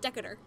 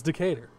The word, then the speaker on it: Decatur: it wrong Lily business they can't pronounce Decatur they call it deca der Decatur it's Decatur and like my grandpa